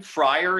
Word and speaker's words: friar: In this next line, friar is actually going to elide to one syllable.